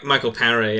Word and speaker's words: Michael Paré: Is that how you pronounce his name? Yeah, Michael Paré.